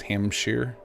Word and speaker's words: Hampshire: with their friends sometimes Sure is sheer. So Hampshire is hamshshire.